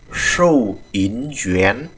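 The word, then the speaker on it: 收银员: Tiếp tục chúng ta có nghề tiếp theo, đó là nghề thú ngân hoặc là nhân viên thú ngân, đọc là sâu yến duyến.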